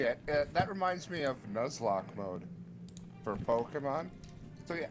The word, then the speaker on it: Nuzlocke: Is that how you pronounce it? Oh yeah, Nuzlocke.